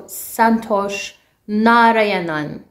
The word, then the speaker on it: Santhosh Narayanan: course music santosh narayanan last time i did not pronounce his name correctly so santosh narayanan so let's see what the